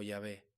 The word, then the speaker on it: Yahvé: Entonces, ¿cuál es la pronunciación correcta? Los eruditos modernos han propuesto varias posibilidades, siendo las más aceptadas Yahvé o Yahweh, basándose en testimonios de escritores antiguos